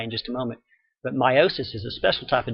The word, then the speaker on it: meiosis: more in Chapter 13 called meiosis sometimes pronounced meosis and I'll tell you why in just a moment but meiosis is a special type